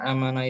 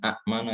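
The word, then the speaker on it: أمانة: Maka kemudian bacanya amana bukan akmana ya.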